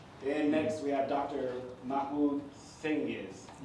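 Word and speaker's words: Mahmut Cengiz: Mahmut Cenzig. Pronounce that one right?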